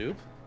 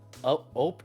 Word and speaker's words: ope: The Midwest Oop? Midwest Oop. OOPE. Oh. Oop. Oh. Depending on which part of the Midwest you're in, it can be pronounced anywhere from ope to up to oop.